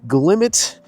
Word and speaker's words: Glimmet: Glimmet. Yes, I said it right.